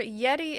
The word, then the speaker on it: Yetee: And remember, Yeti is spelled YETEE.